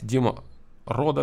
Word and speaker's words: Dima Roux: Если есть какие-то моменты с произношением, лучше в скобочках писать, типа, там, Дмитрий Константинович Ручкин, там, произносится вот так, да, Дима Ро.